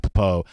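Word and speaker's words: Pappoe: Maybe I'm not, but Jacob Mahaffey says we got to change the pronunciation back to Popo.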